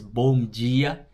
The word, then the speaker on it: bom dia: hello, hola, good morning, bom dia. Oh yeah, also whenever you're speaking Portuguese, the D doesn't make a D sound. Sometimes it makes a J sound, so it's bom dia.